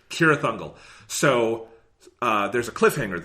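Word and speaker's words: Cirith Ungol: and frodo is in sierra thundel god damn it c no soft c no south seas kira thundel so uh there's a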